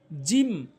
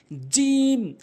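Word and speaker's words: جيم: জিম ভুল উচ্চারণ, জিম ভুল উচ্চারণ, সঠিক উচ্চারণ হচ্ছে জিহ্বার মাঝখান উপরের তালুর সঙ্গে জিম, জিম, জিম, সঠিক উচ্চারণ জিম, জিম, এভাবে।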